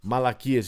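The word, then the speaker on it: μαλακίες: Malakias is how you say it in Greek.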